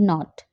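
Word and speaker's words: nought: like n o t naught but the spelling is n-o-u-g-h-t but you have to pronounce not u g h is silent n o t like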